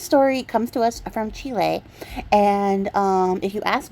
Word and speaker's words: Chile: oh yeah the US version is entirely incorrect Chile is how you say it so that's the